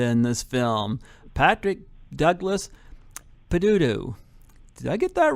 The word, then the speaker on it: Peduto: Yes, I got the guy who terrorizes Amanda in this film, Patrick Douglas Peduto. Did I get that right? Did I get that right this time? Well, it's close. Peduto.